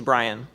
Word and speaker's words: Bryan: of William Jennings Bryant I have to not say it like a drunk guy it's William Jennings briyan and uh he was